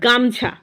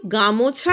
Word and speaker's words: গামছা: গামছা। এটা একদমই রেয়ার কথা, গামছা। আমরা কিন্তু গামোছা বলি না, আমরা বলি গামছা।